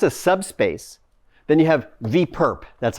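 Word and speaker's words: V⊥: So you may know in linear algebra, if that's a subspace, then you have V perp. That's how you pronounce this.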